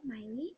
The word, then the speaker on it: Maile: My name's Miley. It's spelled kind of different, as you probably saw in the title. may have been wondering how you even say that. It said Miley.